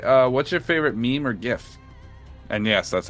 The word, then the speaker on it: GIF: What's your favorite meme or GIF?